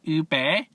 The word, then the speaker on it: ube: else it'll spill again but we got the U ice cream on the top um I had to literally YouTube how to pronounce that right before I hit the start